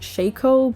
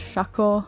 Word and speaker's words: Shaco: It's pronounced Shaco, but I've always said it as Shaco.